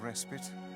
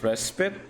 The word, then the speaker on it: respite: It really is pronounced respite, not respite. Plus, you want to make Fira happy, right? Anyway, life is better when you have someone to fight for. I think it is. Really, I've been pronouncing it wrong this entire time. I keep pronouncing it as respite.